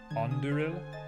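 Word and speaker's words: Andúril: and yes i don't know how to pronounce it correctly anderil anduril yes this is that's precisely it you've got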